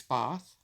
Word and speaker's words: Bath: born in bath though I have been corrected that I must never say it like that it's both and my father was